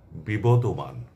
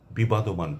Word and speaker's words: বিবদমান: দুঃখজনক হলো এই শব্দটির উচ্চারণ আমি নিজে বহুকাল বিবাদমান পড়েছি। এমনকি বেদার টেলিভিশনের স্ক্রিপ্টে আমি এটিকে বিবাদমান হিসেবে পেয়েছি এবং সেটি পড়েছি। শুধু তাই নয় অনেক সিনিয়রদের উচ্চারণেও আমি এই শব্দটির উচ্চারণ বিবাদমান শুনেছি। যা সম্পূর্ণ ভুল।